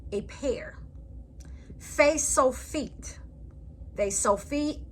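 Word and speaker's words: ף: Fe-so-feet is a final pronounced like a F at the end of a word.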